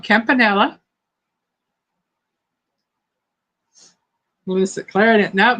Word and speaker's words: campanelle: Would it be campanella or campanelle? Campanelle, because it's got an E at the end instead of an A. Campanelle.